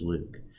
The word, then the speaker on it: LIWC: and word count or Li WC which we pronounced Luke the program was developed